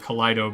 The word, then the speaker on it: Kaleido: There's currently, we're not sure if Kaleido is pronounced Kaleido or Kaleido but we go with Kaleido because, like, you know, kaleidoscope has a lot of colors in it, so we assume that's what it is.